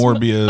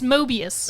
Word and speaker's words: Mobius: No, it's Mobius. Okay, because it's like a Mobius strip.